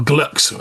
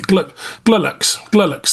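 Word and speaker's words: Glulx: The successor to the GLU, or Glux. I think it's Glux it's pronounced, isn't it? Or Glulux, yeah. Or Glulux, yeah, Glux. Glulux. There we go. We're going to go with Glulux, all right?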